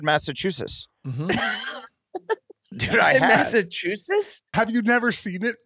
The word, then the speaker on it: Massachusetts: two c there's two there's two T's at the end of this it's Massachusetts yeah with the T oh dude I've been